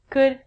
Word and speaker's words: could: All of these L's are silent. So it sounds like, should could, and the thing that we get from trees would.